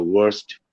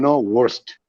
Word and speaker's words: worst: So first, when you can pronounce first, same, worst. So if you want to stand first, you should also learn how to be the worst, how to pronounce the sound worst.